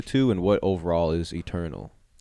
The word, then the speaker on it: ETERNVL: since cool uh let's touch on uh it's Eternal right that's how you pronounce it I just want to make sure